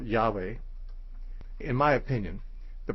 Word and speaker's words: Yahweh: be an alternative and when you add certain vowels to these this word can be pronounced yahweh or jehovah or or differently still this name y-h-w-h which we could for convenience call yahweh in my opinion the